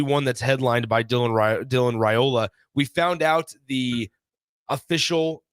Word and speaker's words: Raiola: Obviously, one that's headlined by Dylan Raiola. We found out the official pronunciation.